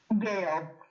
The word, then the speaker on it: Gail: Gail. What's that? Otherwise, my name is Gail. Gail. Oh, Gil. Yeah. Rhymes with jail. No, with a G.